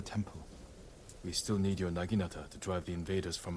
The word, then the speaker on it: naginata: now I need to remember to pronounce it naginata because I've never said it that way and I'm going to